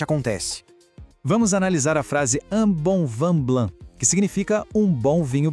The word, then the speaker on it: un bon vin blanc: Vamos analisar a frase un bon vin blanc, que significa um bom vinho branco. Olha só, un, bon e vin são todas vogais nasais.